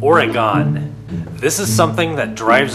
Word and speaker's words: Oregon: Now, I live in the state of Oregon, which you might not realize probably has the most controversial pronunciation out of all the states in the US. Anybody who's lived in Oregon for any substantial amount of time has been